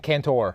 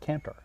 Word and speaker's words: Cantor: am I saying it wrong yes I'm saying canor yes you are it's not it'ser so it's like an e because it's spelled c o c a n you don't